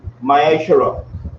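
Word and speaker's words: מעשר: and malachi 3 8-10 means 10th in hebrew and it's pronounced myshara 10 of any increase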